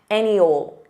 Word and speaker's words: any old: Any ol, any ol, any old dream, any old dream. Now, this is an expression, any old plus noun, pronounced as any ol, means random or unimportant.